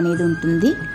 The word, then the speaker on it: Yazhi: The pillars are adorned by Yazhi (pronounced Yaalli), a mythical animal which is part lion, part horse and part elephant; sometimes part of some more different animals.